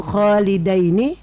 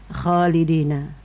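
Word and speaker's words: خالدين: Atau kholidaini tidak dibaca kholidina.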